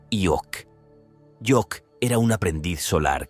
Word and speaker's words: Yo'ok: Un iniciado fue el responsable, al cual llamaremos simplemente Yo'ok, pronunciación Iok.